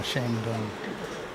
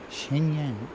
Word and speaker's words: Shenyang: He's off to uh Shangario. Shang or Shenyang? Shenyang.